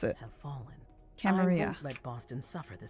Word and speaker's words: Camarilla: The Camarilla has faced many challenges Camarilla. in the past few years. Many So of our that's how you strongholds pronounce it. have fallen. I Camarilla.